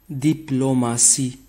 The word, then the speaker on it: diplomatie: par la lettre D la terminaison tie et prononcé si dans certains mots comme démocratie démocratie diplomatie diplôme assis la lettre